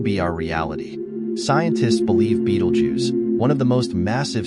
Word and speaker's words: Betelgeuse: Nestled in the shoulder of the Orion constellation, Betelgeuse, pronounced Betelgeuse, has been a familiar sight for millennia.